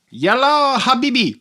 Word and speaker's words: Yalla Habibi: Yalla Habibi.